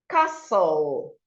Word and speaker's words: castle: Castle, castle. The C is silent. Muscle, muscle.